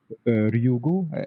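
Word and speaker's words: Ryugu: maybe for this asteroid was named Ryu gu I pronounced it in Japanese although this is a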